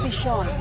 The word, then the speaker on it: Bichon: Tama ba ang pagkakapronounce ko? Bichon.